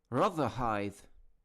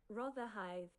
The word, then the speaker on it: Rotherhithe: Rather the pronunciation. Let's see. Rotherhithe. Rotherhithe. Rotherhithe.